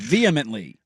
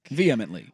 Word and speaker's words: vehemently: vly the H is the H is silent vehemently I always thought the H was a little little present in that flows off the tongue a little bit better if I'm not lying vehemently we didn't get this